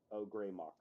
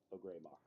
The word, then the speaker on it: Ogremoch: It's pronounced Ogremoch. Ogremoch.